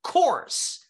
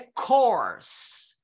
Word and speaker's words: course: o som só então corse ela não tem uma parte mais forte uma parte mais fraca a palavra toda já é uma palavra forte corse Olha que interessante